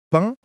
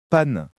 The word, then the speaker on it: pain: Quand je veux dire pain, on me corrige et on me dit que j'ai prononcé comme pane.